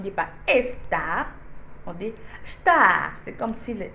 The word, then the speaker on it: estar: ES ne se prononce, le E ne se prononce pas. Alors, on ne dit pas estar, on dit star.